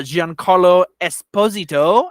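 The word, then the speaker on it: Giancarlo Esposito: that um and uh Jean Carlo Esposito is how you say his name so now now we're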